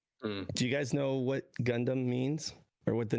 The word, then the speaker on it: Gundam: But instead of DOM, it's DAM because furidamu in Japanese. They pronounce it DAM. So yeah, should have been gun Gundam. And freedom. Yeah, Gundam.